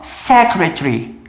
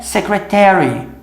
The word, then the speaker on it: secretary: Eles pronunciam isso aqui lá muitas vezes sem o A. Eles falam secretary, secretary. Já nos Estados Unidos eu só escutava com A, que é secretary.